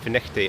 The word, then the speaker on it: Findochty: of Findochty, or Findochty as it's spelt, but Findochty as it's pronounced.